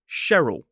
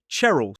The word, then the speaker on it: Cheryl: But for example, this name here, most commonly, it's pronounced Cheryl, but I have heard some people say Cheryl.